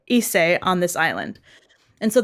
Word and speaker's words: Issei: I think it's pronounced Issei. Okay.